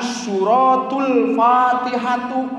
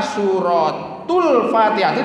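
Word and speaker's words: سورة الفاتحة: Dina tafsir Jalalain tingali dina ieu eta paliheun hanapeun anu dikurungan Suratul Fatihati istri ieu ya canak hiji sewa kemah beli teu kabagean Suratul Fatihati maosna teh kitu dibacana nanti membacanya jangan suratul Fatihatu.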